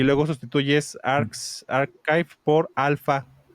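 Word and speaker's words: arXiv: a primeramente a este archive o Archip se escribe con X, así Arsip.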